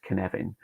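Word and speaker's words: Cynefin: all credit is due to the uh uh canevin uh video on YouTube I know it looks like sinin but that Welsh it's pronounced Kevan uh fantastic video um by the founder of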